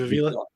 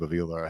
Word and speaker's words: Avila: that yes, Torrance, yes, Steve, how do you pronounce his name? Steve Avila. Yeah, Avila, the guard out of TCU.